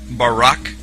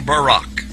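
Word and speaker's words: בָּרָק: So lightning, or a flash of light, in Hebrew is pronounced barak or barak.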